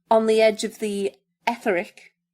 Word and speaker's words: Etheric: In his book, On the Edge of the Etheric, have I pronounced that right? Etheric is right, yeah.